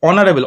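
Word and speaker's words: honorable: এটার সঠিক উত্তর কি হবে অনারেবল ভালো করে উচ্চারণ করো অনারেবল অনারেবল মানে মানে হচ্ছে সৎ বলতে পারো তাই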